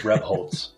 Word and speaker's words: Rebholz: close to the pronunciation it's supposed to be? Yeah, it's good. It's Rebholz. Yeah.